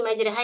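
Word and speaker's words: مجريها: Eh istilah-istilah dalam al-qur'an jadi memang ada pengecualian di mana RO di situ dibacanya re dan itu eh sebagaimana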